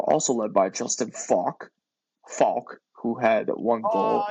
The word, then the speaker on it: Faulk: we're all gonna die no it's Faulk I try to say Faulk my bad with the mispronunciation so Justin Faulk had